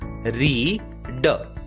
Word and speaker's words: read: ई, इसलिए READ का उच्चारण होगा आर की आवाज र, ई का नाम ई, ए को भूल गए और डी की आवाज ड। शब्द का उच्चारण होगा री ड, रीड।